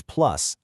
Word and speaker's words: plus: When plus is used like this at the end of a phrase to modify a verb, you actually pronounce the s. So it's not pl, it's plus.